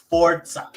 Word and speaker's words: Forza: It's not Forza. It's Forza. Oh, yeah. But forza, that's not English. But that's not English. Forza is not English. Forza is not English. It's Italian.